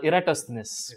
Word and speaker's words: Eratosthenes: a mouthful i do not know how to pronounce this actually the greek mathematician uh eratosthenes yes i finally got it right this this